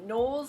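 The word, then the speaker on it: KNWLS: The first one is from uh Nolles. I think that's how you say it. It's like K N W Ls, which in my brain means Nolles.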